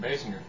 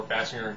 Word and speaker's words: Basinger: movies, gets a random phone call from Kim Basinger. Or Basinger, depending on how you want to pronounce it.